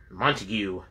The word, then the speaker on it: Montague: And it's spelled M-O-U-N-T-A-G-U-E, and then in parentheses they pronounce it, or spell it, M-O-N-T-A-G-U. So, Montague.